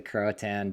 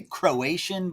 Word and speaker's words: Croatan: I'm excited to get into the Croatan Buck 50. Am I saying it correctly? You are. A lot of people say Croatian Buck 50, but I think they do that just to make me mad.